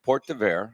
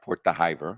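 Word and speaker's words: Port d'Hiver: kind how you describe it okay so it's pronounced Port d spell but if anybody wants to Google it spelled d h i v r Port theer which means Port winter Port winter Port correct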